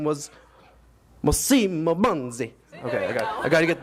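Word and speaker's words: Massimo Banzi: and she was like, you're not saying it with the Italian accent. So, just a minute. And his name was Massimo Bandi.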